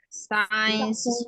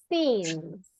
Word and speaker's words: since: Science. Okay, listen. Pronunciation. Since. Since. Since. Since. That's the one.